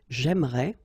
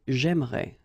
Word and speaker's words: j'aimerais: But then it's exactly the same thing, because even if you get this here and here, you don't pronounce it. So it will go like j'aimerais, or then j'aimerais. Remember, phonetically, they are the same, okay?